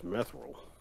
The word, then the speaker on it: mithril: Technically, the correct way is mithril.